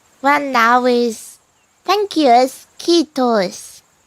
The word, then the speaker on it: kiitos: And I don't know why, but I guess the pronunciation is kind of similar to Japanese. So if you know how to speak Japanese, it can definitely help you with the the Finnish pronunciation.